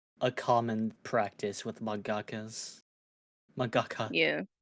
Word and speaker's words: mangaka: The That should author be of like a common practice with mangakas.